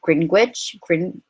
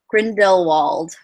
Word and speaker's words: Grindelwald: And as you know, that this story is also about Gellert Gringwich. Oh my God. Let me just like learn how to pronounce his name right. Hold on, let me. Gellert Grindelwald.